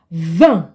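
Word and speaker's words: vingt: number 20 in French v v v remember the t is not pronounced okay V let's read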